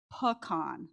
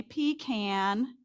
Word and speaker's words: pecan: can yes and how many people say pecan all right that's about the average response for Americans there was actually if you can believe it a survey conducted somebody paid to find out what Americans say seventy percent of Americans say pecan so you were in the majority and give yourself a pat on the back I happen to be from South Georgia so I say p can I have heard